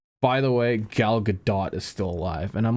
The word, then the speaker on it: Gal Gadot: Yeah, Gal Gadot. That's not how you're supposed to pronounce it, but That's definitely how you're supposed to pronounce it.